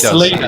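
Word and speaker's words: Celina: chaplin and fraser uh selena or chilina has been been probably correctly pronounced is it shellina i think i was calling him selena okay well i'll go with you ross always gets to the pronunciation spot on what yeah it's selena it's selena it's selena you know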